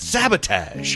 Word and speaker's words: sabotage: that's how I well you pronounce it sabot I pronounce it sabotage he is Canadian and